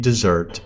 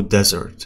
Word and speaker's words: dessert: طبعا هي بتلفظ ب dessert. مو desert. desert اللي تجي ب S واحدة تعني صحراء. بس desert هي تحلية.